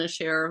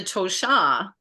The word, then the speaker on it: Tosha: But anyway, so that's the Tosha, and it looks like Tosha, but it's pronounced Tosha. The accent, like yours, is one of the interesting layered names. I call it layered. But when you say Tosha with the accent on the end, it's in Lakota.